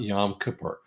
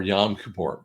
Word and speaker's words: Yom Kippur: that but let's talk a little bit about Yom Kippur um or Yom Kippur whichever way you want to say it I